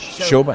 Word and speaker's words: Shobha: Shobha. That's right. Shobha. It's easy. It's just the way it's spelled, Palle. Shobha. With the silent H.